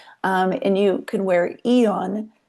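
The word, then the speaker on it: Aeon: Um and you can wear Eon. It's spelled Aeo N.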